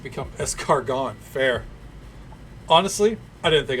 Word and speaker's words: escargot: Well, it's actually pronounced escargot.